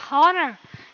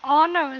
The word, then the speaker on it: honor: Chữ honor này bình thường chúng ta sẽ gọi, bình thường nếu mà những người nào mà không biết phát âm ấy, họ sẽ đọc là honor. Nhưng mà cái âm hát ở đấy của nó sẽ là bị âm cấm. Nên chúng ta đọc honor giống như chữ trung thực là honestly.